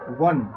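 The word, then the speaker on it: one: ये वन sided game, सबसे पहले इसका उच्चारण वन, वो का प्रयोग हो पा रहा है।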